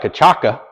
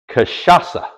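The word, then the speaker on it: cachaça: This is Novo Fogo Kashasa. I think that's right. Kashasa. It looks like Kachaka. C A C H A C A. Brazilian, but it's pronounced Kashasa.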